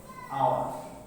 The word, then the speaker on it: hour: for an hour। এইখানে আওয়ার উচ্চারণ করতে এখানে আমরা এইচ কে অনুচ্চারিত লিখেছি। এইচ এখানে অনুচ্চারিত রয়েছে, উচ্চারণ শুরু হয়েছে উ থেকে।